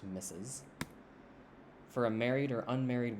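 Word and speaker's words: Mrs.: mrs so m-r-s plus their last name it's pronounced misses for a married or unmarried woman common this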